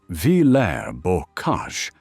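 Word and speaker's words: Villers-Bocage: The village of Villa's Boage, pronounced Vair Borage on June 13th, 1944,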